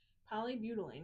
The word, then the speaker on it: polybutylene: Polybutylene, is that how you say it, Greg?